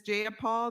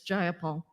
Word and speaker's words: Jayapal: you agree with miss j paul that there was no takeover it was just jayapal if you're gonna say my name please say it right it's jayapal jayapal do you would you